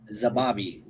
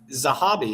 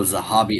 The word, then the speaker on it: Zahabi: I think Zahabi, is it not? Oh, Zahabi. Okay, I thought that was a B. So I thought it was Zababi.